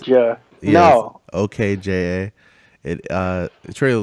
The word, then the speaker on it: Okja: Did you not see the trailer for the new Netflix original movie, Okja? I think that's how it's pronounced. Okja.